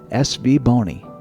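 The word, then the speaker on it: SVBONY: impression and I've also confirmed that the correct pronunciation of the company is SV Bony.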